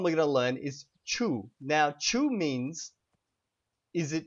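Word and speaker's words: ĉu: or no question and that word is Chu and it's spelled c with a little hat above it and U so CH and now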